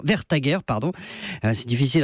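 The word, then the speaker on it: Vestager: qui est une danoise qui s'appelle margrethe verse vers sa guerre vers ta guerre pardon c'est difficile à prononcer a fait un travail vraiment sérieux c'est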